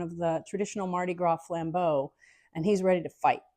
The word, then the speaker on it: flambeaux: And I would encourage you to look up the flambeau of New Orleans. It's a French word, and it means flames. And flambeau is spelled Flambeaux. It's plural, but it means the torches, basically.